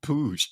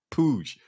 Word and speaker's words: Puig: you think uh ricky puig debuts tonight yo oh well i learned his name is push push ricky pooge is pronounced push i was like what